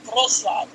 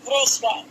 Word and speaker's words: Wrocław: My mom's from Poland, my dad's from Ukraine, and they both grew up in Wrocław. I said it wrong. Wrocław. There we go.